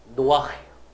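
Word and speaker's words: נֹחַ: 그래서 노아가 된 건데 사실은 노아는 정식 발음이 아니고 히브리어로는 노아흐예요.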